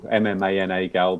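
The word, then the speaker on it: MMANA-GAL: afternoon we're going to look at Amman gal that's how I pronounce it anyway I've heard various people MMA a gal but am manal seems to work quite well but um we're going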